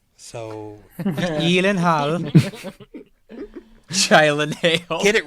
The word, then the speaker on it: Gyllenhaal: pronounced Gyllenhaal. So Gyllenhaal.